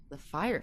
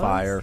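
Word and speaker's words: Fyre: Fire Festival, and it's not even spelled like fire. No, I didn't know how to say it, It's but I heard F-Y-R-E.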